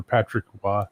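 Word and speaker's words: Patrick Roy: And for Patrick Wah, they just wrote WA.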